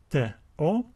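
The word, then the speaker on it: τῷ: The next word has three letters, tau and omega. And we also have the iota subscript, which is silent. So these letters give us the sound T-O. We read this word as TO.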